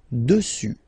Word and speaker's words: dessus: Final S not pronounced. Dessus.